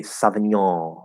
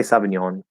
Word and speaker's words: sauvignon: of trying to say sauvignon or something would say sauvignon sauvignon some people will say savignon or something like that maybe get a little